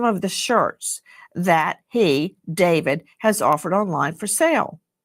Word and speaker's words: David: um pronounced David, not D4 VD.